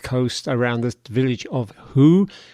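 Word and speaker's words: Hooe: around the village of who which is spelled h-o-o-e which i swear sounds like hui but running in some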